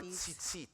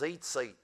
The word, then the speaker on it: tzitzit: That, by the way, what you refer to as blue tassels are tzitzit. Yes, tzitzit. What you may hear typically pronounced in most Messianic congregations is zeitzit.